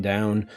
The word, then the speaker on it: dhow: The new ship is called a Dow. I believe that's how you pronounce it, DHOW.